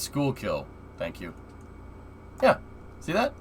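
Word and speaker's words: Schuylkill: goes over here interesting it's pronounced school kill thank you yeah see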